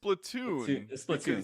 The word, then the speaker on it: Splatoon: on platoon right yeah because it's off the word platoon so well it's flat platoon so but every time i watch like you know nintendo directs or anything they pronounce it splatoon they never say splat